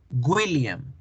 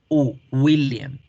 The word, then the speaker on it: William: Entonces, las personas cuando dicen William en español, están pronunciando mal, porque nosotros en español tendemos a hacer la W como el sonido de la sílaba gu, William, y no es gu, es una U, William, William, William, ¿sí?